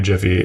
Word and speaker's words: GIF: There's people who legitimately believe it's GIF. It's Jif. It's GIF. Just like how it's Houston. It's like Linux. Exactly. When the guy who designs it says how it's pronounced, that's how it's pronounced.